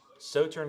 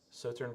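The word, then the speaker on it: Sauternes: minimum of six years in salt salt turn salt so turn really there's no the s is silent so turn cash for 17 month so turn France is one of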